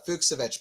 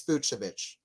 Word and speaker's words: Fucsovics: hard to pronounce yeah I thought it was uh fuksovich before uh commentating on the match I looked it up on the ATP I think it's fuchsovich so uh a little